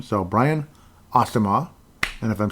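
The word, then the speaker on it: Asamoah: the play that's how they described it Brian Asma apparently is the way he's pronounced uh the way he pronounced his name so Brian asimar and if I'm saying it wrong again Brian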